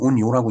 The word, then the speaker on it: 雲揚: 자, 운양호 일본말로는 운요라고 읽는다고 그랬죠.